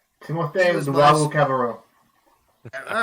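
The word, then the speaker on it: Luwawu-Cabarrot: Timothy Luwala Cabarro. He Timothée was my. Luwawu Cabarro.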